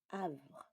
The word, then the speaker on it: Havre: Du, Havre. Le son H n'a pas de son. Et ça se prononce A.